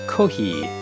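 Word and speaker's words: コーヒー: His name is Kohi, which is Japanese, the Japanese pronunciation of coffee.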